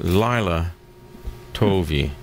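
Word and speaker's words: לילה טוב: so the appropriate phrase in hebrew would be leila tov pronounced lila tovi or you were way off yeah i'm glad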